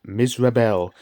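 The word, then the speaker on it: Mizrabel: a wicked witch named misel which sounds remarkably like miserable if you say it right and that makes sense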